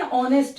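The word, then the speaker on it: honest: आसान है करके इंग्लिश वर्ड स्टार्ट होता हो किंतु उसका साउंड उच्चारण जो आप कर रहे हो उच्चारण अगर वॉवेल हो यानी के रूप में निकले मुंह से तुम्हारा तो तुम उसमें एन लगाओगे ए नहीं लगाओगे उसमें एन लगेगा ए नहीं लगेगा जैसे देखो एन ऑनेस्ट मैन नहीं लगता है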